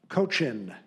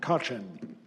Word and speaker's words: Cochin: Cochin. Cochin. Alternate pronunciation, Cochin.